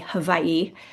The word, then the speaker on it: Hawaii: Now the one thing I do not do uh W's are pronounced V in Hawaii. So like Hawaii would be havi but I don't say it like that.